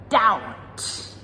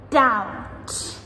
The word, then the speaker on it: doubt: Subtle, subtle, doubt, doubt, debt, debt, numb, numb, plumber, plumber. So, as you can hear in all of these words, that letter B, we do not pronounce it ever.